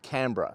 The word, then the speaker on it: Canberra: she said one word Canberra so that's where we take our Clues as to how to say the word Canberra and of course it